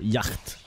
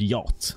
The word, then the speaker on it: yacht: buy a yacht or Yak what it's spelled Yak but everyone said yacht I don't know why but no that's not what